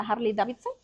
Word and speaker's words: Harley Davidson: grande de los que los motoqueros de la Harley Davidson así se pronuncia entonces Esas personas que tienen que quieren